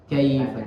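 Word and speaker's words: كَيْفَ: Tapi lin itu cara membacanya seakan-akan dipanjangkan seperti mat. Kaifa, karena dia mengalir saja. Di situ bukan ada hukum matnya, tapi ada huruf linnya, yaitu ya sukun yang didahului oleh fathah. Kaifa, jadi membacanya ringan. Kaifa. Ya, ka'ai, jangan ka'ai.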